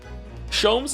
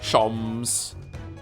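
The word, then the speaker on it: Sholmes: Shoms is pronounced the same as jams. Shoms.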